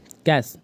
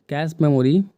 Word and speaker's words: cache: Right answer है इसका डी कैश, या कैच बोलते हैं उसको। इनमें से सबसे तेज मेमोरी CACHE होता है, उसके स्पेलिंग वो है।